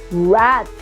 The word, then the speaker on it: wrath: rot wristband wreckage right in all of these words letter W is silent wrath Wrath of eches the